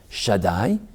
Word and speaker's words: Shaddai: name of god should shin dal yud i'll pronounce it just to teach it shaddai it's the same name